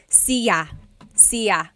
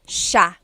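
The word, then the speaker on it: siya: It looks like it should be pronounced cia sa but it's actually pronounced sha sha. So the s i y it's a sha sound sha.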